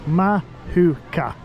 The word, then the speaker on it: Mahuka: by going on mooka see I've learned how to say it mahuka aruga aruga aruga muga